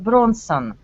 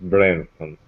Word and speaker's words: Branson: and his principles so do you know Richard Bronson Richard Bronson no no no yes ok maybe missional i know iroh here the usual pronounced Richard Branson hey I'm brensa yes yes Richard Branson here